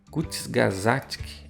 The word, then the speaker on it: Kurzgesagt: Aqui é um videozinho feito esse nome aqui, em alemão, se pronuncia assim, Kurzgesagt, eu acho que é mais ou menos assim, tá?